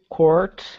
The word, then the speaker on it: court: So this word here, court, guys, pronounced by me follows this rule here that we just mentioned. But if you have an American accent, then you do pronounce the R, and that's also okay.